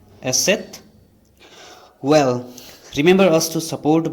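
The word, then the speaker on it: Eszett: And here is another abnormal letter like B, which is pronounced as asset. Once again, asset.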